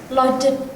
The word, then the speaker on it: lodged: Gimana sih kalau kita ada akhiran ed terus kita pronounce-nya itu harusnya gimana? Bukan heated, lodged, tapi lodge.